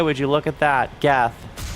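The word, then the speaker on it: Geth: Oh, hey, would you look at that, GU? shame that your name rhymes with death cuz that is what you are going to receive.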